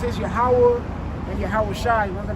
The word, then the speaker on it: Yahweh: So in the Hebrew, we're going to start with Yahweh. And to break it down just like syllable by syllable, and then I'm going to put it all together. It's Yah, Ha, Wah, Ha.